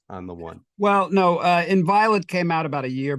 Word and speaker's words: Inviolate: In the last couple of years, you've released, I'm going to mispronounce this again, I apologize, Inviolate? Yeah, that's it, Inviolate.